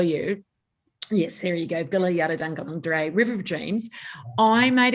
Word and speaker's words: Bila Yarrudhanggalangdhuray: It's Bila. I've got a story about this. Bila Yarrudhanggalangdhuray. So Bila is river. Yarrudhang is dream.